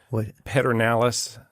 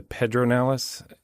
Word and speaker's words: Pedernales: But it's like that river in Central Texas, the Pedernales, not the Pedronales.